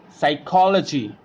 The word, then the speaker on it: psychology: psychiatrist what do we read it psychiatrist psychic psychology psychotic and SAAM now move on to the next silent letter that is N and will be silent